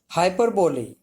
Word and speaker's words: hyperbole: Hyperbole, pronounced hyperbole, is a figure of speech in which an author or speaker purposely and obviously exaggerates to an extreme.